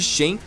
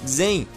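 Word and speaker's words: Xen: Aliás, a pronúncia correta de Shen é na verdade Zen, mas eu acho meio esquisito pronunciar Zen enquanto eu falo português, e por isso eu opto por falar da maneira errada mesmo.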